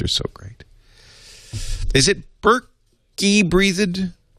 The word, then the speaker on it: Berkeley Breathed: Is it Berkey breathed? How do you pronounce it? Berkeley breathed.